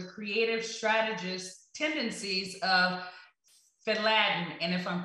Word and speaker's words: FADEDlain: If I didn't, can you please, for the sake of the audience, go ahead and pronounce the name of your company? Yeah, it's just FADEDlain. So it's FADEDlain.